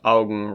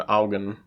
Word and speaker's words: Augen: Augen is pronounced Augen rather than Augen.